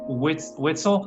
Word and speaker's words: Weitzel: biohacking beauty podcast my guest today is kirsten whitsell how do you say your last name whitson it's kristen white's all right weissel yeah and uh kristen is